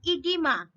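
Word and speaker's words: oedema: a disease that is edema spelling is o e g e m a but remember this pronunciation will be edema what is edema edema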